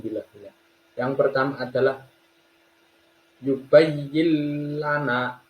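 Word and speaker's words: يبين لنا: Yang pertama adalah yubayyil lana. Diperhatikan nun sukunnya tidak dibaca, bukan yubayyin lana, tapi langsung masuk ke huruf lam. Yubayyil lana.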